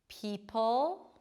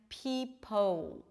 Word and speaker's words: people: People, see my lips are not really rounded, people, and people, the lips round.